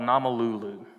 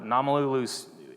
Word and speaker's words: Namalulu: in a town called Namalulu. So one of the cool things about the Swahili language is if there's a letter in there, it's pronounced. So Namalulu, if you want to know it's exactly how it sounds.